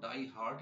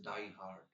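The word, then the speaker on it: die-hard: কথাটা হার্ট নয় মনে রাখতে হবে ইটস নট ডাই হার্ট ইটস ডাই হার্ড ডাই হার্ড মানে হচ্ছে ডিভোটেড ঠিক আছে ডিভোটেড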